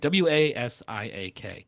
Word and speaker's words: Wasiak: Stan Wasiak w a s i a k.